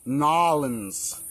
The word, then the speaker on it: New Orleans: I think it's, hold on, Jackie, I think it's pronounced Nolans.